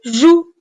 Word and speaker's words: joues: S encore une fois attention les deux lettres cette fois-ci E et S avec lesquelles le verbe jouer se termine sont muettes muettes c'est-à-dire en les voix mais on ne les prononce pas E et S